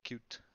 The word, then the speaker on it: Qt: kit 5 and the tools for Qt poor cute I'm going to pronounce it for this designer to create Python